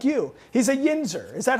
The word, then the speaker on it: yinzer: grew up in Pittsburgh like you he's a yinzer is that how you say it it's a yeah it's a yenser what does that mean again yinzer is just